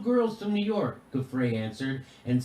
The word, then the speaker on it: Giuffre: And Jimmy, I think it's pronounced Gouffre. Gouffre?